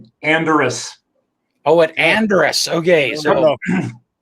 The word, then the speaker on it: Anderes: His is pronounced Bern, but it's spelled Bern. It's the capital of Switzerland. Anderes. Anderes, yes.